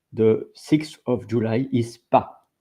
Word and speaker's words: pas: It's pronounced pas, and I'm going right now to set the pronunciation with that, so that you know how. But you heard from me, but pas, Pas. Pas. Pas. Pas. So it's pas.